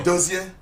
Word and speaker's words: Dozier: How do you pronounce your name really? Dozier.